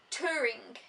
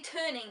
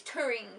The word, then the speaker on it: Turing: says oh yeah Alan Turing I actually want to say turning and that's not it it's touring I think t-u-r-i-n-g it's a story of